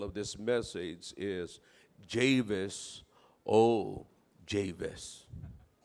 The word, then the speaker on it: Jabez: na lang hindi kayo Javis, Jabis kayo. Yung iba naman Chavis. No, in the Bible they pronounce it like Javis.